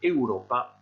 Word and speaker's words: Europa: Vous faites attention ici à la prononciation, on dit bien Europa, et vous remarquez que devant les noms géographiques, en général, il n'y a pas d'article.